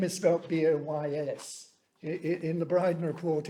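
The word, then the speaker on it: Buoyes: in the brighton report my name is felt boys in the bride report it's spelt b-u-o-y-e-s which is an interesting naval connection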